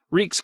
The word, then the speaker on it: Reek: No, I only want these clothes, Reek's clothes. I'm Reek, it rhymes with peak.